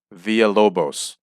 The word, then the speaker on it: Villalobos: new zealand i believe manuel villalabos villa via lobos that's it that's the proper pronunciation manuel villalobos wrestled rip morgan villa